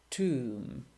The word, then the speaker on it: tomb: Silent B. Bomb, climb, or debt or doubt, or comb or tomb.